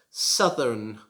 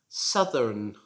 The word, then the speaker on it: southern: another example of how the same combination of letters that o u t h is pronounced completely differently south southern and number 19 now